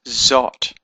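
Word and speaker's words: זאת: Otherwise, the word is zot. Zayin Aleph Tav. Zayin Holem Aleph Tav. Zot. So that holem gives it an oh sound. Zot. So here we have the Aleph having a oh sound from the holem.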